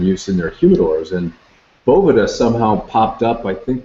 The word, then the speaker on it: Boveda: Boveda officially is how we say it. Boveda.